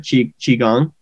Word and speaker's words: Qigong: Qigong. Yep, that's right. Yeah, so I've been doing some Qigong, and it's been pretty awesome.